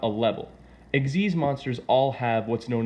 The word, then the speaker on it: Xyz: No, it's not XYZ, it's pronounced Eggsy.